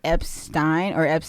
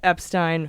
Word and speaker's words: Epstein: on the board and he spelled it Epstine. And I think that was to get people to say it right.